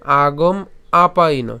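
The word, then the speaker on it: আগমাপায়িনো: ঠিক আছে তাহলে পাইন যদি উচ্চারণ করি তাহলে উচ্চারণটা কেমন হবে আগম আপাই আগম আপাইন ঠিক আছে আগম আপাইন এরপরে এখানে যে আমরা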